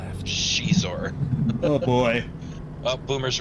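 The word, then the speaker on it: Xizor: I've always I've always thought it was a zynar oh I could have turned back there that would have been better left there's a character in there the spelling of their name is x-i-z-o-r and it's pronounced shizor oh boy oh Boomer's right zynor okay getting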